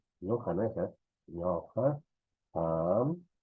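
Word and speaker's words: qam: No voy a pronunciar ñuja, ñuja no es, ñoja, ham, no es han, no, ham, pai, ñojanchik, no es ñojanchik, no, ñojanchik, no, ñojanchik, ñojanchik, no, ñojaiku, ñojaiku, no, hankuna, hankuna, y haikuna, ¿no?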